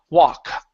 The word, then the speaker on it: walk: Now, the L in walk is silent right here. Instead of wall walk, it's ww walk.